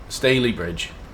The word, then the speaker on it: Stalybridge: a private charter ladies and gents miters it's pronounced Bailey bridge Stalybridge so it's just a really stale bread yeah